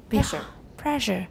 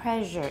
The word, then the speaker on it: pressure: Pressure. Okay, it's not pressure, it's pressure. Pressure. Right. Everyone watch that. A lot of people get that wrong.